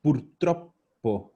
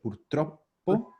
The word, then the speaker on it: purtroppo: Ojo aquí la pronunciación. Purtroppo. Doble P. Purtroppo.